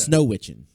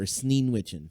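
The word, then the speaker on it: Sneewittchen: Snow Witchen. Oh, okay. I believe it's her. Sneen Witchen, pardon me, is how you Okay.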